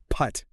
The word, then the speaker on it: putt: Putt.